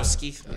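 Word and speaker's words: Gostkowski: And this Gotskowski guy, if I pronounce that properly, Steven he's money. Gostowski.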